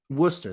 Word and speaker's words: Worcester: Worcester. Thank you. I wasn't gonna try to pronounce that because I wasn't gonna get it right.